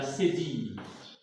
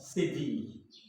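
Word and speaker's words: cédille: s'appelle la CD la sdille on va lire sdille ok parce que la dernière lettre E ici en français ne se prononce pas c'est une lre muette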